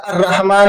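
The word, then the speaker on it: الرحمن: उससे पहले अगर अलफ़ लाम आएगा तो लाम साइलेंट हो जाएगा और उसकी जगह अगले हुरूफ पर हम तशरीफ़ देंगे और वो पढ़ा जाएगा अर रहमान अ शमस वगैरह।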